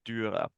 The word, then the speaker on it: Dürer: Is that how you pronounce it? Dürer.